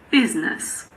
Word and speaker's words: business: We basically always pronounce I. The main exception is in the word business.